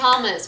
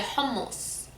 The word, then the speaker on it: hummus: that macaroni and hummus we don't say hummus we say hummus it's you you have to emphasize your health sound it's not it's not it's a hell so it's not hummus